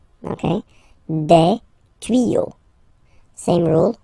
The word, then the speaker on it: tuyaux: Same rule, you don't pronounce it. Des tuyaux. Okay, un tuyau, des tuyaux. So the only difference will be with the article, because the word will be pronounced the same way.